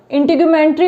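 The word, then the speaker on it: integumentary: सबसे पहले तो इसके प्रोनाउंसिएशन पे वर्क करना, इंटीग्यूमेंट्री बोलते हैं इसे, नहीं तो पता पड़ता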